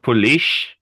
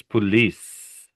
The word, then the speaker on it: police: to look at, Zip, is this C here and here. It does not make an SH sound. It's not police an officer. It's police. It makes a sound. Just an s sound.